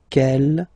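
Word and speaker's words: quel: masculine singular will become K here masculine plural okay K here feminine singular will become K with the S feminine plural and the good news is that you will pronounce them the same way all right so k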